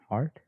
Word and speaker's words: Hart: And the Hart is not spelled like heart. It's spelled like slightly different, but it's pronounced the same. H-A-R-T. That's the same as Kevin Hart.